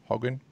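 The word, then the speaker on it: Hogan: and then the new book from Laura Hagen Hagen that's how it's pronounced from a bed apart from book apart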